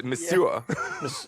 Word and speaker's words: monsieur: see if we know there is no h in there it's misua the sewer oh monsieur how do they say